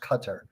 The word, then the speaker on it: Qatar: you're the uae if you're qatar sorry it's pronounced qatar if you're one of these countries are you